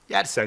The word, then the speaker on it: Jersen: kendisi Danimarkalı oluyor aslında jersen diye yazılıyor ismi yani j ile ama yersen şeklinde okunuyor onu soruyor işte yani